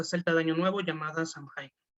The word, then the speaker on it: Samhain: Es bueno, un derivado de la fiesta celta de Año Nuevo llamada Samhain, o Samhain, como se prefiere pronunciar.